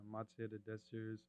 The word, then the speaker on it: Matière de Désirs: So the brands are called Bottega Desires and Matière de Désirs. Bottega Desires and then Material of Desires in French.